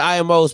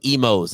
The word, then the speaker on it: Imo's: What's the IMO's pizza? What's that? Huh? She gave me the salty face like, how you embarrass me like that? Emos, excuse me. It's spelled IMOs though.